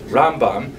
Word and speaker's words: Rambam: all your friends there, Rambam is pronounced with the emphasis on the first syllable, Rambam, and Ramban is pronounced with the emphasis on the second syllable, Rambam and Ramban.